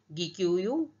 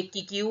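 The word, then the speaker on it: Gĩkũyũ: और ये local language है गिक्यूयू, ये किक्यू और गिक्यूयू दोनों तरह से प्रोनाउंस किया जाता है वर्ड।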